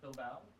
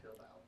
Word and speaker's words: Bilbao: Is it Bilbao? It is. But Andy says that because you said it wrong. Yeah, I did. Bilbao.